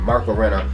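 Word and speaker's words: Renna: Writer Ryan Parrott and artist Marco Rena, that's how you say his name, Marco Rena, will be at the helm of Mighty Morphin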